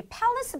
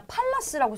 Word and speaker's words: palace: 근데 일단은 여기 palace 발음이 좀 특이해요. 써있기에는 진짜 palace라고 써있거든요. As a real American, this is how we say it in English. Palace. Palace. Pal? is palace.